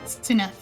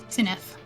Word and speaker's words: Cinaeth: I've been pronouncing it the way that you said it. He was putting his pronunciation in chat and I completely ignored it. Cinaeth. It's like Cinaeth, but softer, I guess.